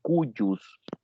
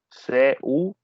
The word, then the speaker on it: de cujus: Se puede pronunciar correctamente de ambas maneras y se escribe C-U-J-U-S, cujus, así como se podría leer de forma literal, cujus, y pues también con su pronunciamiento, digamos, castellanizado, cujus, y si se pronunciara en latín puro, estaríamos hablando del de cuyus.